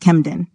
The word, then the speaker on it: Camden: plus cabic nasal example Camden is normally pronounced kemen to practice using cabic